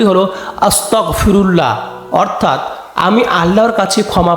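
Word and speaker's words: أستغفر الله: আমরা দৈনন্দিন জীবনে সবসময় করতে পারি এর সঠিক উচ্চারণটি হলো আস্তাগফিরুল্লাহ অর্থাৎ আমি আল্লাহর কাছে ক্ষমা প্রার্থনা করছি আস্তাগফিরুল্লাহর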